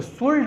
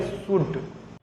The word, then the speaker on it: should: इसमें आप थोड़ा गौर कीजिए, यहाँ पे SHOULD, तो शुल्ड नहीं पढ़ेंगे, यहाँ पे L साइलेंट हो जाएगा। SHOULD शुल्ड लिखा गया है लेकिन पढ़ेंगे शुड।